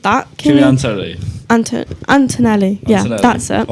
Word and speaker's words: Kimi Antonelli: On Carlos Sainz, though, I've just found he wears Kimi Antonelli. I've butchered that. Kimi Antonelli.